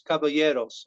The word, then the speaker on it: Caballeros: didn't get it right because the eyes are silent so it's Caballeros almost you don't even pronounce them okay okay so you